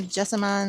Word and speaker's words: jessamine: All right, this is the yellow jessamine, or I think some people call it jasmine, but it's spelled jessamine.